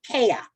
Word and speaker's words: Kaya: of a microaggression yes my name is different but it's not that different if you listen it's kaya two syllables sounds that everybody knows so it gets to